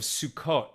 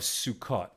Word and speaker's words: Sukkot: This is where the requirements, the rules, the laws of Sukkot are given, the fall, the harvest holiday of Sukkot, right? Or Sukkot in more Ashkenaz pronunciation.